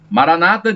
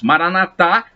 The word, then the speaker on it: Maranata: Maranata dizem os protestantes, Maranatá, com acento na última sílaba, dizem os católicos.